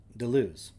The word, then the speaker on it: Deleuze: It is actually not accurate to say that Deleuze and Guattari developed the schizoanalytic approach, for, as